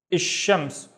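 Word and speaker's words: الشمس: And now what I do is, instead of saying il, I skip the il and I say ish. Again, instead of pronouncing il, I would pronounce ish, and then I would say shams. Ish shams. Why? Because sha is one of the sun letters. So when we have a sun letter, we double the letter itself and we skip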